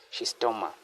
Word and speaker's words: Schistosoma: explain the cycle of she's stoma. So she sto this just how they pronounce it as she's stoma. She she's this becomes silent.